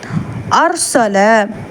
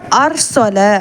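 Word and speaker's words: أرسل: மெல்லினமா சொல்லணும் எக்ஸாம்பிள் பார்க்கலாம் அர்சல இங்க வந்து அர்சல அப்படின்னு சொல்லி ராவை நல்லா வல்லினமா உச்சரிக்கணும் ஏன்னா வந்து அலிஃப்க்கு ஃபத்ஹா வந்திருக்கு முன்னாடி உள்ள லெட்டருக்கு ஃபத்ஹா வந்திருக்கு நெக்ஸ்ட் உஸ் குர் உஸ்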